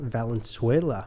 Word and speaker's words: Valenzuela: stories of Catholics Our Guest today is Val vuela welcome on thank you you got that pronunciation perfect that's heck yeah so can you